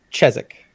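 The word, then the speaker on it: Chiswick: yeah it's chez yeah oh chez cheswick emphasis emphasis on the first syllable chess ick the mandalorian do you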